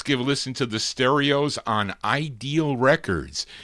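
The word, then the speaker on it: Sterios: And uh let's continue here for this group called the Stereos, but it's spelled kind of odd. S T E R I OS.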